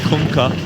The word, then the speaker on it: Kunkka: Did you hear the way Tide yelled it? That's how you pronounce it. You're welcome. Kunkka.